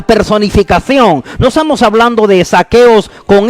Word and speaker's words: Zaqueos: vamos a hablar de saqueos de hoy pero cuando lo más destacado de hoy asegurémonos que le pronunciamos con z como también asegurémonos que